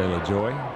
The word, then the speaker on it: Lajoie: Lajoie. I'm sure that's the right way to pronounce that one. Yeah, a lot of people say LaJoy.